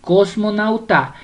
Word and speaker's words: cosmonauta: Vamos con cosmonauta. Cosmonauta. La sílaba tónica es nau.